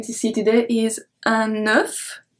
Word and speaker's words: œuf: And the first one we are going to see today is un œuf. So here we pronounce everything.